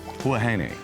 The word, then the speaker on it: Huahine: Huahine.